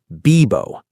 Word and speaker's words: vivo: Like a soft B. Bibo, not English V.